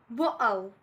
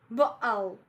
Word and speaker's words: bottle: And the last one is bottle, bottle, bottle. It's also a glottal stop, so I glottalize T in all these 3 words.